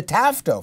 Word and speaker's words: TAFTA: the ttip as the tafta for the transatlantic Free Trade Agreement well and obviously because it rhymes with NAFTA and cfta but I need to